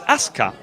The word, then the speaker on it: Asuka: Asuka is with a silent U, so it's Asuka.